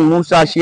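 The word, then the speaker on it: 武蔵: जी आहे ती आहे जुन्या जपानी भाषेत सहा तीन चार च उच्चारण मुसाशी असं होतं आणि जे ऐतिहासिक मुसाशी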